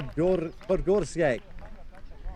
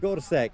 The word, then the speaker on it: Gorsek: Category champion is Matis Por Porske. been getting his name wrong all day. Uh Mati see Mati is fine but Gorsek there we are the